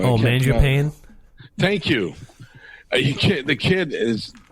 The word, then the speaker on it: Mangiapane: I can't pronounce his name. He's known as the bread man. He's number 88. Marjani? Mangiapane?